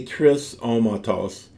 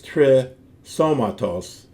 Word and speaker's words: τρισώματος: So it wouldn't be trisώmatos, it's trisώmatos, so that you honor the elements of the compound.